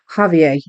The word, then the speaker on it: Javier: they say Javier Javier okay Javier um so you don't pronoun it's not a hard J it's a silent J um good good good